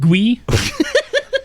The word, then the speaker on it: Guy: Anyway, it's pronounced Gui.